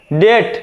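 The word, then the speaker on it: debt: মেরু অরবিট মানে কক্ষপথ ডেট মানে ঋণ ডেট মানে কি ঋণ এখানে কিন্তু বি এর উচ্চারণটা হবে না ডেথ মানে ঋণ তারপরে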